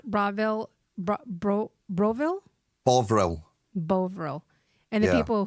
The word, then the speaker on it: Bovril: Broville, whatever. Bovril. Bovril. Bovril. Jesus. And you guys make it so difficult to pronounce.